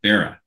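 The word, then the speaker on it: Barat: a r a t the t is silent yeah barah okay I love boret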